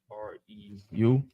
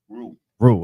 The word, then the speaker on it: Reu: And Peleg lived 30 years, and begat Reu, or Reu. How do you say that? R-E-U. Reu. Okay, Reu, I was right.